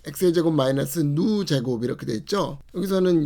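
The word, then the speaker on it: ν: 1 x의 제곱 마이너스 누 제곱 이렇게 되어 있죠. 여기서는 이런 거는 그릭이고요. 그리스 알파벳이고 누라고 읽어요.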